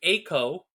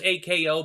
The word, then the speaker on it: Ako: single movie called Project Ako. I thought it was AKO, but they pronounce them Ako, Biko, whatever in this show, so I'm going with that.